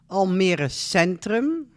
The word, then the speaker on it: Almere Centrum: Here you see the outside of the train station, Almere Centrum. That's how you pronounce it.